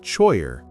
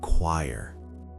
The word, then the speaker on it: choir: Remember, not choyer, but choir.